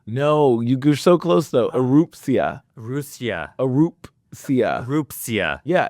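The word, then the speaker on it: Erupcja: It's called, and I've tried to rehearse this, and I'm sure I'm going to say it wrong, Arushka? No, you're so close though. Erupsia.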